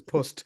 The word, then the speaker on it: post: It's Irish for there is no the Irish for post is pust.